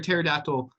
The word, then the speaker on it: pterodactyl: can't you hear a pterodactyl go the bathroom why does the P is silent I'll be here all